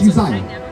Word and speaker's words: Uzziah: Say his name. It's Uzziah. It's what is it? Uzziah. Uzziah?